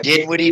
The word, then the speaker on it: Dinwiddie: I don't even know how to pronounce it. Dinwiddie? Did I say it right? Yeah, Dinwiddie.